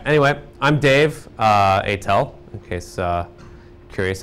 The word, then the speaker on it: Aitel: be good all right anyway I'm Dave uh atel in case uh curious how to pronounce my illegible last name which was originally